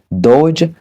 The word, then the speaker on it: dodge: En ce qui concerne la lettre D, elle est le plus souvent omise lorsqu'elle est placée avant la lettre G. Par exemple, judge, le juge, dodge, esquiver.